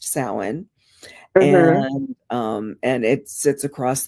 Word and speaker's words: Samhain: Samhain, but it's pronounced Samhain.